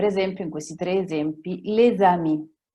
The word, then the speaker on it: les amis: Non si dirà les amis. I francesi attaccano leggendo e parlando, ok? Les amis, la S, che da sola non si leggerebbe come oramai sapete, si direbbe le, però c'è. Se dietro vi è una vocale, si dovrà collegare con la vocale.